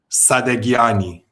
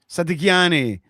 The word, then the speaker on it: Sadaghiani: Sadaghiani. Sadaghiani. Yeah. Sadaghiani. Well, in Farsi, it's actually Sadaghiani, but we don't have Sadaghiani. the sound in English. So the H is silent, basically.